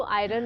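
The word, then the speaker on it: iron: okay I forgot to आयरन इट या it looks आयरन आयर्न न नट आयरन like for eyes we से ई वाई ईई the same way आयन for example I need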